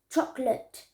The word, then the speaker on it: chocolate: this is very also very important number four chocolate chocolate chocolate chocolate so chocolate too two syllables two syllables shop let truck yet truck